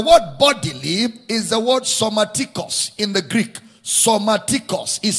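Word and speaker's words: σωματικῶς: The word bodily is the word somatikos in the Greek. Somatikos is spelled as S-O-M-A-T-I-K-O-S.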